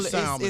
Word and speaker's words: salmon: Oh no, it's never salmon. It's never with the L.